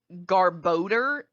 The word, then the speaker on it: Garbodor: And the best part is like I always pronounced it Garbodor in my head, or like you said. Apparently, canonically, it's literally called Garbodor, and I refuse to acknowledge that as fact.